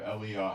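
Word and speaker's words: אליהו: It's Eliah. The prophet is Navi, Ha-Navi. So you would pronounce it in Hebrew, Eliah Ha-Navi, Elijah the prophet.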